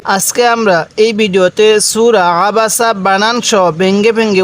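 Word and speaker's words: عبس: করি বিসমিল্লাহির রাহমানির রাহিম আবাসা আবাসা এই আইনটা উচ্চারণের সময় আমরা যদি একটু চাপ দিয়ে পড়ি তাহলে আইনটা সহি উচ্চারণ হবে তাহলে এই লামের মধ্যে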